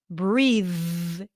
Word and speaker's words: breathe: notice that here breathe can you hear the difference between the first th on the second th breathe breath breathe it's like the difference between s and z f and v f and V this is a voice th and it's the voiceless The Voice pair of the